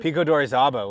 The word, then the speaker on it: Pico de Orizaba: you also mentioned Pico de, how do you pronounce it? Pico d'Orizaba was the most recent one, just in February just now.